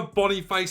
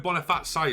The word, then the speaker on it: Boniface: players last year Victor Bonny face I actually called him Bon fat say last year but I know it's not how you pronounce his name very close to leaving